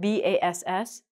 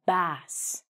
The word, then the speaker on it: bass: So this word, B-A-S-S, a kind of fish we call a bass. But if you play an instrument or you sing, it's called a bass. So bass is a kind of instrument. It's a bass guitar or a stand-up bass.